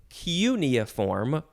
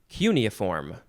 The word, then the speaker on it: cuneiform: Next is cuneiform or cuneiform. I said those the same way. Cuneiform or cuneiform. You got emphasize the first or the second syllable.